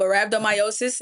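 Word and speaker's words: rhabdomyolysis: But at the same time, I'm I couldn't even pronounce it. Right? The short end is called rhabdo. But rhabdomyosis, and it's basically where my bloodstream just kind of got a chokehold.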